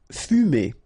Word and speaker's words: fumer: Fumer. Okay, so U here. U. Fu. Fumer.